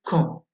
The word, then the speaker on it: Caen: Vous avez également le son en dans une ville en Normandie, dans le Calvados, la ville de Caen.